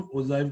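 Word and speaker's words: ogive: और ये ओजाइव curve बड़ा ही इंपॉर्टेंट है। क्या होता है ओजाइव कर्व? लोग इसे ओगिव कर्व भी बोलते हैं, पर ओगिव कर्व नहीं होता, ओजाइव कर्व होता है।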